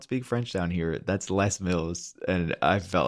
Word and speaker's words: Les Mills: Zealand there was this gym chain called less Mills but being from Canada and like you know being used to French words being around for like probably a month in my head I was pronouncing it as lay Mills you know as in like the plural right like lay Miz like exactly it's for me I was like yeah lay Mills and then I finally